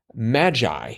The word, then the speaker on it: magi: across, 3 wise men, magi. No, I did not misspell that. I did. And so... How'd you spell it? M-A-J-I. Oh. It had a j sound to it, but then we had 52 down.